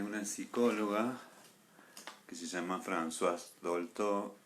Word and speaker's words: Françoise: Muchos libros escritos de Françoise Dolto, Françoise, como dice Gastón, que lo pronuncia bien.